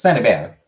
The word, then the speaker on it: Saint-Hubert: You know, it's Saint-Hubert. It's French, so it's not actually pronounced St. Hubert, but I can understand St.